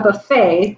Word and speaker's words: buffet: A buffet, but it rhymes with tuffet. Or it's spelled like tuffet, okay.